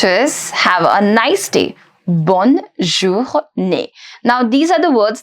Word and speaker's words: bonne journée: So you say bonne journée. Bonne journée. Let's understand the pronunciation of this.